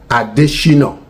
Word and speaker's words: Adesina: It is Adeshino, which has a lot of meaning in Yoruba land. It has a lot of meaning. That crown has opened the way. Adeshina. And it is spelled Adesina. Not with a T, not with with any H.